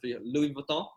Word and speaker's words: Louis Vuitton: this is louis vuitton i think in france louis vuitton that's how you say it but louis vuitton right so it's a